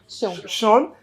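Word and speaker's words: Sjón: How do you say it again? Sean.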